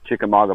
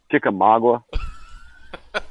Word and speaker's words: Chickamauga: 18 or 20, something like that, is the Chickamauga battlefield. That was also one of the places. How do you pronounce that? Chickamauga.